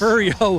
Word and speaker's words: Refugio: Refugio, 45 years of consecutive winning seasons. Holy moly. That is amazing. Hey, and you pronounced it right.